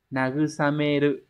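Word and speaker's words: 慰める: Vậy thì nó phải đọc là nagusameru, nagusamete.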